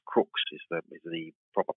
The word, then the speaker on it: Crux: constellation is not Southern Cross it is Crooks Crux Crooks is the is the proper pronunciation of it and that means like a